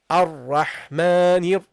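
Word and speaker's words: الرحمن: Now because the ra is a sound letter, you don't pronounce the lam either. Okay, so you go immediately from the noon to the ra. Okay, so you say ar-rahmanir, ar-rahmanir.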